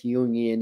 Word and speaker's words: Jungian: you can approach that from a jungian perspective or i guess jungian is proper pronunciation or shamanic but the